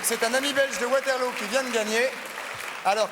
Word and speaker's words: Waterloo: dit waterlo ou waterlo waterlo en Belgique on prononce waterlo waterlo très bien non ça